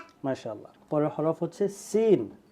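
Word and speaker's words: سين: মাশাআল্লাহ পরের হরফ হচ্ছে সিন সিন সিন জিহ্বাটা উপরে এখানে আসবে না জিহ্বাটা নিচে থাকবে সিন ওকে আমরা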